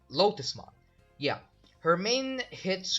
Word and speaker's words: Lotusmon: So, yeah, Digimon number 8 is Lutzmon. I mean, sorry, I pronounced that wrong. Lotusmon.